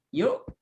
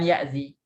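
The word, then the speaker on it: يؤذي: Aza, fi'il mudhari'nya adalah yu'zi. Kenapa yu'zi? Bukan ya'zi. Siapa yang bisa menjawab? Kenapa ini membacanya yu'zi? Bukan ya'zi. Kenapa huruf mudhari'ahnya dhammah? Karena dia 4.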